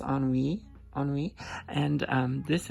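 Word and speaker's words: Ennui: or anything so um I was calling this an neie but but I suppose it is pronounced on we on WE and um this is actually a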